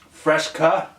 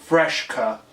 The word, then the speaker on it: Fresca: we go established 1966 Fresca I think I'm pronouncing that right Fresca not fresh cut there's no h but us midwesterners we